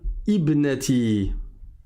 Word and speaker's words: ibnati: Et là encore, le alif ne va pas se prononcer dans la liaison. Pourquoi ? Parce que c'est une hamza de liaison, il n'y a pas de vrai hamza ici, il n'y a pas